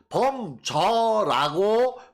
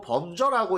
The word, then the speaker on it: 範睢: 자, 범수, 예, 또는 범저라고 표기한 서적도 있어요. 특히 저 열국지 쪽에서는 주로 범저라고 읽는데, 이게 숫자가 강 이름 수, 고 이 저는 물수리 저.